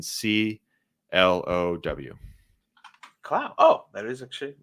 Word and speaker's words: Clow: It's Curtis, how you think it's spelled, and then CLOW.